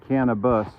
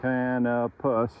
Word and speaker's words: Canopus: I'm not saying cannibus. I'm saying canopus.